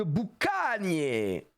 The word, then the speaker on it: Boucanier: et ce sera Donald boucanier attention hein la prononciation c'est bien boucanier et non pas autre chose et on aura